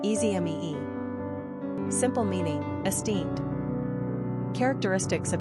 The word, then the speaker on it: Esme: Pronunciation, easy mee.